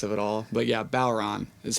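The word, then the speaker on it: bodhrán: irish word so it looks like it's it's pronounced bod haran b-o-d-h-r-a-n yeah um without getting into the linguistics of it all but yeah bauron is how it's pronounced but yeah bob haran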